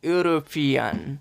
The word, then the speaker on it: European: dash European a starting letter is e but pronounces is European so so e is always goes to be